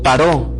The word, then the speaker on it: Paró: solo se dirigiría a paro o paró como sería la pronunciación correcta a faraón sino que además se